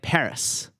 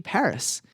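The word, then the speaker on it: PVRIS: and easy to spell i'm a big fan of the band paris or rather pavirus but many people don't realize that what is spelled pavirus is actually paris they did this for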